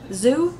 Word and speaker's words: Zhou: for them and um it's alvin zoo i think is how you say his name 48 hour chocolate chip